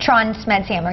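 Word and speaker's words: Trond Smedshammer: for tron schmidt hammer is that how you pronounce it tron smed hammer yeah that's good i'm good with vikings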